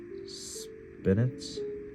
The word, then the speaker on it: spinets: small consoles and smaller spinets is that how you pronounce it to Consumer it sounds like spinach spinach spinach okay anyway to customers who